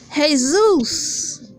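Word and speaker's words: Jesús: Latina people name their sons hey Zeus that's how it's pronounced hey Zeus Zeus was a Greek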